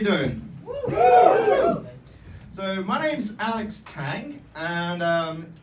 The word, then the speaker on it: Tang: long time I say it's Tang like Tango without the o um I say that